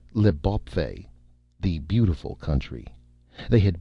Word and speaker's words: L'Bawpfey: When the Earthmen landed on the new planet, they had called the new land Leb, or as it was now pronounced, Leb, the beautiful country.